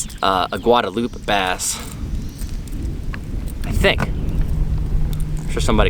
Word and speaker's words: Guadalupe: All I know is we're not on the Guadaloop River, which I just recently learned how to pronounce properly. Been calling a Guadalupe for about 7 years.